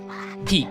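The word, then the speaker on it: pique: P i q u e. Whenever I hear it's oh not here but see it's spelled p e a k. Wrong. Although I see why people might think it's peak as in like a mountain peak.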